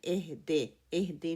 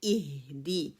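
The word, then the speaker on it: اِهْدِ: بار بار میں یہ کہہ رہی ہوں کہ آپ جو کسرہ ہے اس کو پھیلا کے پڑھتے ہیں، یہ مجہول ہے. اہدے نہیں ہے، اہدی.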